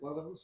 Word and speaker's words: Lathams: for or look after is Lathams, is that how you pronounce it? Lathams? Yeah.